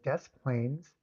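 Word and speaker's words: Des Plaines: And everybody, it is Des Plains. Sometimes people accuse me of saying the name wrong. They're obviously not people from Chicago. It is Desk. Now I'm wondering was Des Plains where John Wayne Casey lived.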